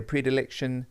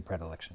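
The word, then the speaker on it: predilection: I love the word prediliction actually and it does have two pronunciations. Some people will say a predeliction really possibly. Yeah, I think maybe that's more of a North American pronunciation, but I would certainly say pre. Yes, I would say I would say predilction.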